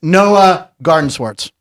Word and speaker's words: Noah Gardenswartz: It's Noah Gardenswartz.